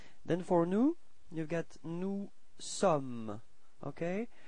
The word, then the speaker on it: nous sommes: Then for nous, you've got nous sommes, okay? Final S is not pronounced. Nous sommes.